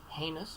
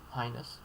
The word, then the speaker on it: heinous: Heinous or highness. Both valid.